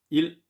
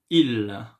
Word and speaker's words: ils: Ils ont, and the same way, elles ont. You see, when I do pronounce il, you don't hear the sound s. I don't say ils, no, I say il.